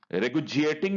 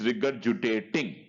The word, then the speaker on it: regurgitating: process is called regulating regulating means bringing the food back in the mouth okay regard sorry sorry let me correct pronunciation it is regurgitating so regurgitating regulating food